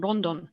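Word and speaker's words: ロンドン: of Rondon or London the the slightly Japanese um Japanese pronunciation Rondon so this seems to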